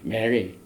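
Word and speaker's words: מרי: 히브리 말로 이 반역이라는 말은 사람 이름 중에 메리라는 사람이에요. 메리 똑같은 발음입니다. 메리 여기 보면은 맴 레이시 여 메리.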